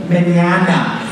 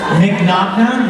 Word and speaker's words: Mignogna: Mignogna? No, it's not that either. Oh, that would be the phonetic pronunciation. It's Italian.